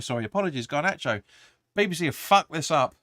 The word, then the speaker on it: Garnacho: Going in over to Malakaya, I think you pronounced that again. Is it? No, it's Garnacho. Sorry, apologies, Garnacho.